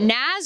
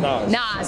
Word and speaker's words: Nas: So is it Naz or Nas? How are we pronouncing? Nas.